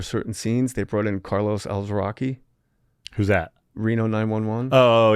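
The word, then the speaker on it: Carlos Alazraqui: Bridges' voice for certain scenes, they brought in Carlos Alzraqui. Who's that? Reno 911. Oh, yeah, okay. I'm probably saying his name wrong. How do you say it? Carlos Alzraqui.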